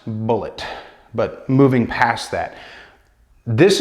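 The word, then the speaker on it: Bulleit: google how you pronounce bullet is going to come up with an interview with tom telling people it's pronounced just like the ammunition bullet and i guess some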